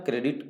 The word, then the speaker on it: Corps: कोर का spelling लिखते हैं CORPS, बट पढ़ते हैं कोर, इसलिए ध्यान रहे सी वाले से, बाकी सभी गलत हो।